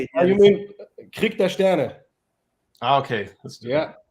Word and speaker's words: Krieg der Sterne: Sten Krieger, is that right?